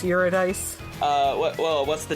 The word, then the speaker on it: Eurydice: It's Greek, so it's not pronounced how you think it should be. Eurydice? It's Eurydice.